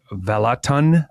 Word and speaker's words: Vallotton: and Chris, is it Vallotton? How do you say his last name? Vallotton. It's a soft R.